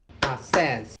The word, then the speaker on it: assess: Veja que a tônica sílaba é na segunda e não na primeira. Então, assess.